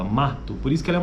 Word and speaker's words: mato: o né ou o mato Mas na nossa pronúncia na maioria do do português brasileiro é na verdade sai um u no final né então é mato esse U é bem fraquinho e aqui ele está